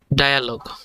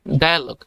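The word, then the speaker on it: dialogue: এবং প্রথমটা উচ্চারণ কি হবে? ডায়ালগ। বাংলা উচ্চারণ দেওয়া আছে, লক্ষ্য করেন, ডায়ালগ। এটা ডিয়ালগ নয়, ডায়ালগ। আর অর্থ হচ্ছে কথোপকথন।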